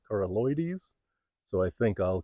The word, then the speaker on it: coralloides: harvested coralloides now and I think I pronounced it coralloids last year but I heard Adam Harington from learn your land call it coralloides so I think I'll